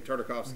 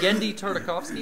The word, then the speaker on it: Tartakovsky: Tartakovsky. Gore. Whatever. The guy who did Dexter's Lab and oh, Genndy Tartakovsky.